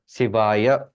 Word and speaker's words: शिवाय: दोनों में डिफरेंस समझ में आया प्रोनाउंसिएशन में, शिवाय एक तरफ और हम या शिवाय, को पूरा बोल रहे हैं, एक तरफ हम शिवाय आधा कर बोल रहे हैं, रहे।